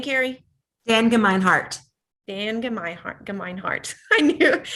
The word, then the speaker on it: Gemeinhart: Dan Gemeinhart.